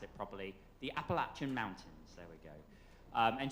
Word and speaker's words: Appalachian: I need to pronounce it properly. The Appalachian Mountains.